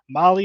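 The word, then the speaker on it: Mahle: of our podcast listeners Molly is spelled m- ahle e all right tell tell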